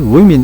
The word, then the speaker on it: women: 우먼은 단수인데 여기 이로 변하면서 women, 발음을 women 이렇게 발음하죠.